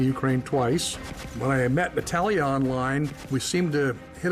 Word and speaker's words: Natalia: into play that's right Carl's in love with Natalia is how you pronounce it Natalia she likes the English Natalie Natalie Natalie and